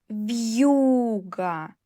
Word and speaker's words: вьюга: Вьюга. Е plus у.